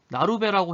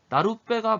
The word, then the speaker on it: 나룻배: 그럼 우리가 이거 보고 발음을 어떻게 하겠어? 나루배라고 해버리겠지. 그런데 우리 실제 발음은 어떻게 해? 나룻배가 맞는 발음이잖아.